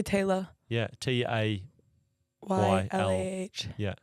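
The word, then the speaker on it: Taylah: Yeah, you Because- guys all say Taylor. Yeah, T-A. Y-L-A-H. Yeah. That's how it would be in the States if you saw it written.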